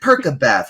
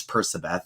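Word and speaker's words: Percabeth: from like, is it Persabeth or is it Perkabeth? Well, of course it's Persabeth. That's how it sounds. I don't care. Where is the hard K sound? I don't care if that's grammatically, phonetically correct. It doesn't make sense with their names.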